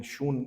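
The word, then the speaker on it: Xun: उनका नाम है वू शून डब्लू यू एक्स यूएन एक्स यूएन शून pronounce करते हैं वो लीन यू स्कूल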